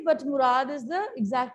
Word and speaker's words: Murad: Murad also you can say, but Murad is the exact pronunciation, fine?